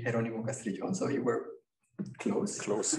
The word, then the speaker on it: Jeronimo Castrillon: so yeah my name the correct pronunciation would be Geronimo castillion so it were closed